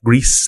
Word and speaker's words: Gris: said Gris yeah well it's the French word for gray Oh which can be pronounced agree but also a Greece like Greece like a like yeah